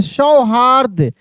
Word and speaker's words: सौहार्द: दूरदृष्टि परोपकार सदाचार सौहार्द कैसे सौहार्द यानी द के पहले र का उच्चारण ठीक है ना?